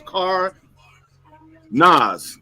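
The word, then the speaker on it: Cardenas: I can't even pronounce the leg name. It's Car Nas.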